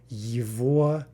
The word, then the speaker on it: его: So anyway, for on, we get yvo, yvo, yvo. Again, note that the g is being pronounced like a v.